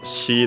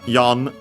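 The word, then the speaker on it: 四: yin be careful uh we don't use she the Chinese reading as usual because uh it has the same pronunciation of as the ki of that and even more so with people we would we wouldn't use it. Uh so yeah we use yon instead but in this case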